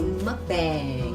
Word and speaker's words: mukbang: Yes, this is actually a, how do you pronounce it? Mukbang.